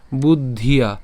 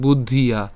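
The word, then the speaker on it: বুদ্ধ্যা: তো তুই মাংস শ্রেণু তুই মাংস শ্রীণু এরপর বুদ্ধিয়া বুদ্ধিয়া এখানে খেয়াল করতে হবে আমাদের ব রসুকার দ পর্যন্ত আমরা উচ্চারণ করছি এরপর ধ উচ্চারণ করবো অর্থাৎ বুদ্ধ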